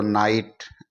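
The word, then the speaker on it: knight: यहां पर के है इसको हम साइलेंट कर देंगे इसको नाइट एन आई जी एस टी नाइट ही पढ़ेंगे क्योंकि के अक्षर है के लेटर है वो साइलेंट हो जाएगा इसी तरह के एन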